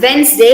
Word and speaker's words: Wednesday: word correctly this word it's pronounced as wednesday it's not wednesday it's wednesday it's not awareness day or wednesday it's wednesday uh the days of the